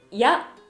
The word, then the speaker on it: 夜: よって答えはやが音読みです。